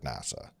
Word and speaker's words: NASA: to the department name it is pronounced as the word NASA and not by spelling out the letters right well yikes okay